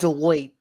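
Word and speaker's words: Deloitte: company, but she doesn't have It's called Deote. Oh, Deote. Okay. I didn't know how to pronounce it, but um she doesn't really have a background in this stuff whatsoever.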